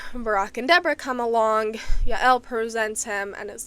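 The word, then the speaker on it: Jael: uh it's often pronounced jail I just don't like the sound of it so I'm going with the Hebrew pronunciation because Jay's in the Hebrew are actually wise. So Ya.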